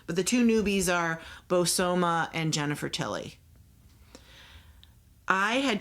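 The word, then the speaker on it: Bozoma: Her name is pronounced Bosoma, so it's Bosoma St.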